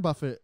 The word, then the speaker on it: Buffett: Morgan probably yes Warren Buffett like is I think a very well regarded person it's pronounced Buffet Warren Buffet War Buffet it's French he I forget if